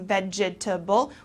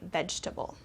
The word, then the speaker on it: vegetable: lasagna for dinner okay so here we don't pronounce every single syllable instead of saying vegetable we say we kind of shorten it and say vegetable all right another one